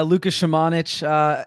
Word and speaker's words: Luka Šamanić: Luka Shamanich? Is that how you say his name? Yeah, Luka Šamanić.